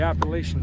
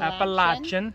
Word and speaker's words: Appalachian: cotton okay okay here we go that's appalachian trail appalachian no appalachian appalachian appalachian appalachian how many syllables you speak english appalachian appalachian appalachian for syllables no because a lot of